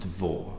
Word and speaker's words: Mhor: me so global or spelt Mhor but pronounced devore means great glen now it's pretty much